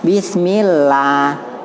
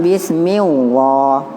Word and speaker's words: bismillah: Allah selalu baca ih Mbaknya bacanya bismillah bukan bis mewah bukan salah lanjut dibawah sopir